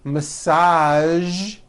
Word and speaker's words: massage: television very good now there are only a few words that have the voiced sound at the end a few of these words are the color beige the word massage and the word prestige okay now that you